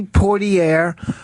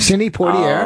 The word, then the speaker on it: Poitier: Okay, Sidney Poitier. Okay. Poitier, or whatever the fuck his name. How do you say his last name? Sidney Poitier.